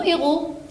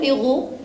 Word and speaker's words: héros: et comme le mot héros et m masculin d'accord je lui mets le très bien deuxième particularité de ce monde il ya à la fin le s muet quand ne prononce pas pourtant ce mot-là est